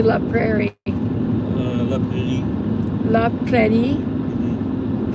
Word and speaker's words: La Prairie: La Prairie. La Prairie. Prairie. The emphasis on the last syllable.